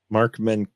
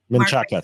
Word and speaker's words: Menchaca: Sorry, I'm going to get Mark Menkachak. I don't know how to pronounce that. You probably pronounce it better. Menchaca, thank you.